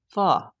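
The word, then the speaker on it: phở: Pho is pronounced "fuh".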